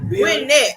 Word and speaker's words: Gwinnett: Okay, she said she's from Gwinnett County. Get it right. Gwinnett, okay?